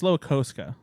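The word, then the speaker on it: Slowikowska: click played by Veronica Sloakowska, Jane Wickline, and Chloe Fam. Just so you know, it's Sloakoska. I'm sorry, but it is derailing the show every single time.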